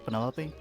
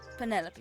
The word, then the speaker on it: Penelope: Penny Pointer Is that short for Penelope? Officially, yes. Penny. I never can be bothered with all 4 syllables of it. Penelope sounds a little ostentatious coming out of the mouth, don't you think?